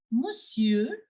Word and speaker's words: monsieur: way of writing so here the N is silent we will this n in between is silent and we will just pronounce it as monsieur I am not making any sound of n but I am making the sound of R because we have to follow the crfl rule so bonjour bonjour Monsieur